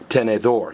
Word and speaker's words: tenedor: word that phrase again if a word ends in in l z r or D the very last vow gets stress so this is tenor you're stressing the The Last Vow The Last Vow which is O now I like butter